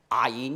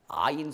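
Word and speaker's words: عين: Alors, des sons gutturaux, c'est comme par exemple en arabe, aïn, vous voyez, aïn, ça prononce très bas dans la gorge, aïn.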